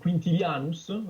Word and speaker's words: Quintilianus: Et c'est un concept d'ailleurs qui était déjà exposé par Quintilianus, moi je le prononce à la latine.